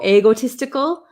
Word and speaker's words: egotistical: and egotistical egotistical um I have a lot of students in Japan that say ego egotistical um it's a long e sound e egotistical egotistical egotistical